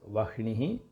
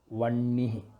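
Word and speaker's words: वह्निः: We are not supposed to read as Vahnihi. We have to say it Vannihi.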